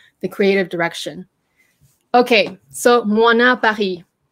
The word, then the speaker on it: Moynat: Okay, so MOYNAT Paris. It's pronounced, by the way, moi, as in like, you know, like moi, me, na, and the T is silent.